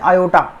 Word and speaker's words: iota: जो कॉल करते हैं वो बोलते हैं आयोटा, IOTA, आयोटा बोला जाता है इस आई को।